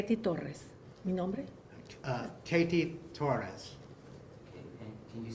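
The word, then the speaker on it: Kety Torres: that please say your name k Tes Katie Torres can you spell it for um put it letter k e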